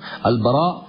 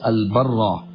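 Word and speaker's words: Al-Barā': Al-Baraa or Al-Barraa radiallahu anhu, actually both pronunciations are correct, but Ibn al-Athir rahimahullah prefers Al-Barraa.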